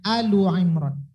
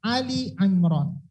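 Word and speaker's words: Ali 'Imran: surot maka cara membacanya Allah Imron ini dalam kaedah cara memasak membacanya kalau gedung Gunakan kalimat surah maka bacanya Ali Imron kalau tidak pakai surah maka bacanya Allah Imron cara membacanya udah ditunggu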